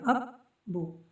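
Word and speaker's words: ابّو: ठीक है, अब्बू में यहाँ पर तजदीद आएगी क्योंकि बा को दो बार प्रोनाउंस किया जाएगा, अब्बू, इस तरह से।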